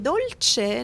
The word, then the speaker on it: dolce: And we say the C in dolce like a ch sound and the t is prominent.